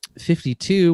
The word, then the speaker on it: 52: And then 52, which is pronounced 5-2, is a reference to the biblical